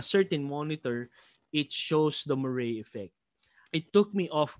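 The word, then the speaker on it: moiré: phenomenon effect so moray when i first read it i i was pronouncing it as more or mo or mora anyways the safest pronunciation for it is murray murray phenomenon so the murray phenomenon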